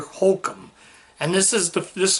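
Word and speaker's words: Hoechlin: I said it's Tyler Hulcom. It is Tyler Hulcom, but I said Tyler Hulchin when it's actually Tyler Hulcom.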